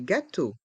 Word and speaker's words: gâteaux: X est muet gâteau des gâ tau des gâteaux des petits gâteaux des petits gâau petit le